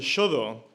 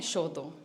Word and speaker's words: Shodō: en la parte superior, se pronuncia sho y significa escritura, y el inferior se pronuncia do y significa camino, con lo cual en japonés shodo significa literalmente el camino de la escritura.